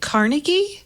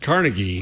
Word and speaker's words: Carnegie: Is it Carnegie? Yeah. Carnegie. Oh. Which is it, Jeff? You're the arbiter. I've always said Carnegie. Mm-hmm. But you're right. But when you hear NPR. The announcement, it's Carnegie.